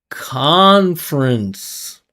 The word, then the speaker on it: conference: We already talked about in a past live why I'm not pronouncing the vowel in that final syllable. That's a salabic n. It's unstressed. Has finishes with n. Vowel sound disappears.